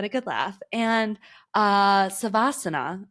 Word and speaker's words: savasana: And, uh, savasana is the correct uh, way to pronounce that word.